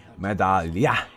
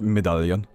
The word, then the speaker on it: Medallion: That's how you say it, by the way. It's not Medallion. Or however the hell you want to say it in your English language. I don't care. It's kind of weird how English just doesn't give a fuck about, like, this word is French. Why don't you pronounce it French?